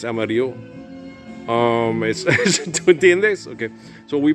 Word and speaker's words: Amarillo: It's not Amarillo, it's Amarillo.